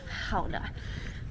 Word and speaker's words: Gouda: i moved over here how to pronounce the gouda that you see at the supermarket it's actually called houda um and there is